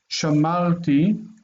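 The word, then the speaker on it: שָׁמַרְתִּי: Shamalti, I kept. What happens is the near syllable lengthens because it's A quality. The accent stays in the same position.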